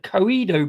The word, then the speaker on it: Coedo: Um, but yeah, this one, uh, Coido Brewery, that's how you say it, from Japan.